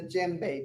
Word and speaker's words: djembe: This is called the djembe drum. It's spelled d j e m b e. You don't pronounce the d.